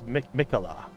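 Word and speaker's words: Miquella: shattered ur tree and michaela is michela like michela okay so you always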